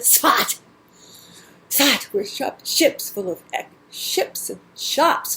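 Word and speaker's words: Tzfat: The mountain town of Sfat. That's the way they pronounce it, Sfat.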